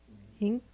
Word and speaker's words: Inc: Ink? It's ink like incorporated.